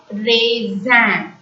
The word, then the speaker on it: raisin: But when it is accompanied with the words R-A-S-I-N is pronounced as raisin. A-I-A-I-N is the nasal sound which has to be pronounced as an. So raisin.